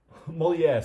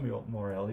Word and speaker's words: Molière: Molière. Sorry, not Morelli.